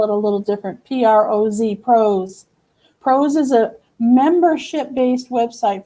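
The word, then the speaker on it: ProZ: They're going to spell it a little different. P-R-O-Z, Pros.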